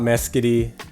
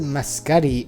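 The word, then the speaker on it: Mescudi: um full name scott mesquity or miscutty i've heard it pronounced different ways he's pronounced it muscati on i believe ghost yes yeah on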